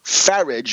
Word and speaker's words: Farage: we hope, called the Brexit, showing again how easy it is for a tin-horn demagogue, a scurrilous demagogue like Nigel Farage, rhymes with garbage, to come along and